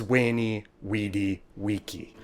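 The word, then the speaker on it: veni vidi vici: Latin C always sounded like K, but most of us changed. their thumbs up in quintilian. So you see younger self, all of this is why when Romans talked about conquering, they said wink and why Caesar's phrase was wayy weedy waky.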